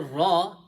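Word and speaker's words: ر: Now this one, when we are pronouncing this letter ra, it's full mouth.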